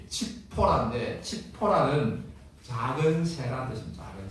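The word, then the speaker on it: צפורה: 않고 뭐 해요 10보라는 이제 원래 원어 발음이 칙포라인데 치포라는 작은 새라는 뜻입니다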